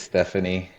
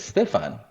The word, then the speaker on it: Stephane: Yeah, so if you see the name, initially a lot of people think it's Stephanie, right? But so my background, ethnicity is I'm Haitian, and some of the family is Dominican as well. And so the proper way to say it is Stefan.